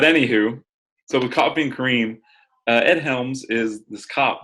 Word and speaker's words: Kareem: Kind of a Kareem, not cream, because it is spelled Kareem.